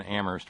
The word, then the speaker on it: Amherst: Let me check in with Kitty in Boston and Terry in Amherst, where only the H is silent.